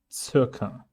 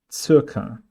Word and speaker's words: Circa: The first C is applying Z sound, and the second one, a K sound. Circa. Circa.